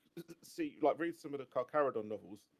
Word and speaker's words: Carcharodon: Like, read some of the Carcharodon novels. Although I'm never sure if I'm pronouncing that right. Carcharodon is Um, correct. yeah, when they kind of